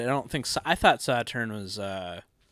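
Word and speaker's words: Sauternes: I thought Saturn was... it's actually... You know, how, right? do you, how do you spell Saturn? S-A-U-T-E-R-N-E-S. Oh, Saturn-A. Saturn-A. I thought it was Saturn. Saturn with a silent E-S.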